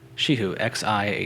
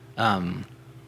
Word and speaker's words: Xi Hu: And the region's pronounced Shihu? Shihu, Xihu. Nice. Yeah. Shihu.